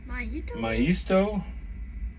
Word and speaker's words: Maisto: Okay, so I've been saying Maisto, and it's pronounced Maisto.